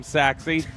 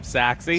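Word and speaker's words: Sachse: pronunciation the phonetic of saxi saxi because it doesn't necessarily look like the way you'd expect it to be pronounced s a c a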